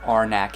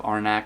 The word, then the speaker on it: Arnak: is a game that I prefer to mispronounce the title of it and it is the Lost Runes of our neck it's the last ruins of arnach but it the Lost